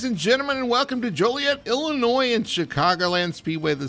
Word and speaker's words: Joliet: And uh you know, you at least pronounced Joliet, right? because it's, you know, some people call it Jolliet and uh there's nothing jolly about it, but they do have